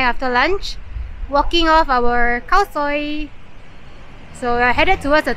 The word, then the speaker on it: Khao Soi: Pronounce it Khao Soi. Khao Soi.